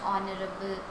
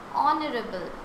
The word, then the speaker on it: honorable: Our principal is dash honorable person. So what should we use here? Honorable. Yeah, H is silent. It is starting from O.